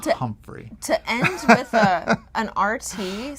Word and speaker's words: Humphrey: So the accent was on the first syllable, Humphrey.